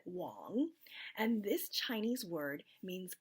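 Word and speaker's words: 王: the Chinese word Wang even though it looks like it's spelled Wang you pronounce it wrong and this Chinese word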